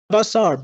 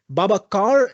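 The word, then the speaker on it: Babacar: Baba Babasar Baba I'm not sure how to pronounce your name. I I hope I'm saying it right. Babakar, it's a C. Sometimes he pronounces as a S, but okay.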